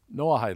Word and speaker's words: Noahide: about the noahide laws noahide is spelled n o a h noah arc and i d e no height laws after noah disembarked from